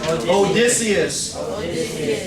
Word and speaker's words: Odysseus: In Homer's Odyssey, you'll meet one of the classic heroes of Western literature, Odysseus. Say that with me, because if not, that'll get mispronounced the whole day and every day. Odysseus.